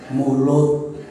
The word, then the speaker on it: Maulid: Bagi orang Jawa, mengucapkan " Maulid" terasa sulit, terlalu berbelit-belit, jadi mereka menggunakan bentuk partisip pasif "Maulud," yang sedikit lebih mudah, tetapi bahkan itu pun terasa sulit diucapkan, jadi mereka menyederhanakannya: "Mulud," itulah sebabnya dalam kalender Jawa bulan tersebut disebut bulan Mulud.